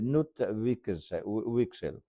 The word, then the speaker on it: Knut Wicksell: On va parler d'un monsieur qui s'appelle, la prononciation, s'il vous plaît, à vous de la retrouver la bonne. C'est Knut Wicksell.